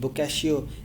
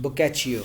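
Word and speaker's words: Boccaccio: some people pronounce it boo Cassio and some people pronounce it book at you okay you can choose whatever you like I want to tell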